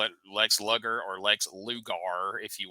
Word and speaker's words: Lex Luger: But Now, but is before- this Lex Luger or Lex Luger? Because you remember on the Chiron, they promoted Lex Luger, and it was spelled like sugar with an L.